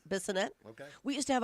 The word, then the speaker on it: Bissonette: Bassinet? Bissonette?